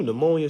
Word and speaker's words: pneumonia: I just knew pneumonia started with an N. That thing started with a P.